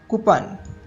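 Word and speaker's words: coupon: reset reset next word कुपन जिसको English में कुपन नहीं बोला जाता इसका सही प्रोनंसिएशन होगा कपन कपन नेक्स्ट वर्ड है कर्ज जिसको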